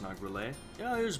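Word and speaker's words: Nargeolet: I believe it's pronounced Nagrele.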